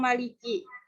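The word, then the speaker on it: مَلِكِ: Jadi mengidgomkan mim yang di kata ar-Rahim pada mim yang maliki. Idgomnya bisa baca qasar dan tawasud bisa tul. Terus yang kedua, pada lafaz malikinya hasful alif, membuang alif. Jadi bacanya Maliki. Ya, oke.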